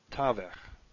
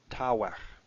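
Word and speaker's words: תָּוֶךְ: shows the other one, tavech. both begad gefat letters, so they have their dagashlene. Ta, ta vech. Now I suppose I should pronounce this the old way, meaning the historically correct way. Ta wech.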